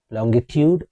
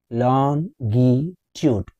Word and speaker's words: longitude: Longitude or longitude? Let's discuss. In British English, we will say longitude. Three syllable word. The stress is on the first syllable. Long. longitude. Whereas in American English, we will say longitude.